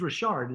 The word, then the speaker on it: Richard: referred me and his his friend's last name is Rashard it's you know French and but it's spelled Richard so I knock on